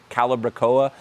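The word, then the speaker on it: calibrachoa: mini petunia they're actually calibra COA uh if you want to know how to pronounce that word I hear calaba Cal I've heard everything calbra COA doesn't like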